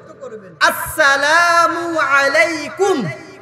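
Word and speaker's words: السلام عليكم: বলেন হামজার উচ্চারণটা শক্ত করবেন। আসসালামু আলাইকুম, আসসালামু আলাইকুম, আসসালামু আলাইকুম।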